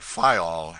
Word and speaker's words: Fayal: island of the group fayal the people there pronounce it file and put the accent on the first syllable we anchored in the